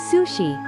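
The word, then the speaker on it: 寿司: The word sushi is pronounced sushi when it stands alone.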